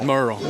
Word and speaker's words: Murrell: And Bill Murrell, am I pronouncing that right? Merle.